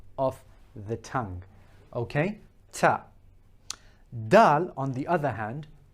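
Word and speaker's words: دال: Now dal, as we said, the tongue is rising up, it's sharply pointed, but when it's making impact with the gums, the upper gums of the incisors on the inside, it is sort of slightly flattening out. Dal, dal.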